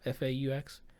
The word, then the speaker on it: faux: fake one shot like the how do you pronounce that word fall f-a-u-x full like a faux one shot where they